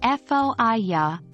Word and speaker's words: fire: pronunciation take for example the word fire in Australian English it often sounds like foia showcasing a triphthong as with any new